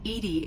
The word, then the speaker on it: EDI: is a jar why are you named Edie Edie is the phonetic pronunciation of e di that is an acronym